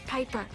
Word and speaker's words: Piper: The name's Piper. Rhymes with Viper.